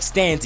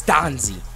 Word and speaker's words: Stanzi: say his name right some of y'all been like stany it's Stanzi and you got to